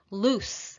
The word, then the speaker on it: loose: no longer have something loose with the voiceless s sound is an adjective which